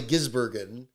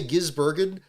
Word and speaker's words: Gisbergen: I for my trick with Shane, besides just calling him Shane, is emphasizing the E, where it's probably Gisbergen is probably the proper way to do it.